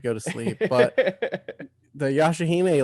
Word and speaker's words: Yashahime: which by the way, the new one, the Yashahime am I pronouncing that one correct? Yeah, Yashahime.